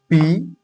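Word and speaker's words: pay: ये लिखा हुआ है पी ए वाई। तो देखिए कैसे लिखेंगे पी का मतलब हुआ प ठीक है और ए वाई मतलब ए तो ये हो गया पे ठीक है उसके बाद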